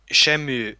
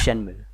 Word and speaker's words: Shenmue: the project like kickoff yeah i mean like Shamu I think sorry i keep pronouncing I wash em you either necessary at your hyperness I right yeah i think it's Shenmue Shambhu yeah I think that's always but like